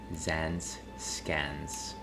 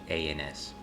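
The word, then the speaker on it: Zaanse Schans: Yes, I believe it was Zans Scans, which is a very poor pronunciation. It's Zanseschans.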